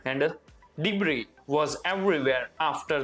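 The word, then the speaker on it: debris: over and डिब्र ये एस है ना साइलेंट है डिब्र इसको नहीं बोला जाएगा हम क्या इसको बोलेंगे डिब्र एंड लास्ट है एफ्लूएंट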